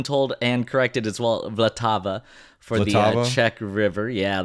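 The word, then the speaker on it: Vltava: I've I've been told and corrected as well vlatava for the Czech River yeah that's right all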